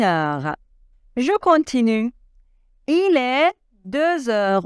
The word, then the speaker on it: deux heures: je continue il est deux heures on doit faire la liaison et le X se prononce deux heures une heure il est